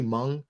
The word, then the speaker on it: Hmong: Is it simply Hmong? Is that how you pronounce that? Okay. Yep. The H always throws me, and I'm like, I try to do more with the word than I need to.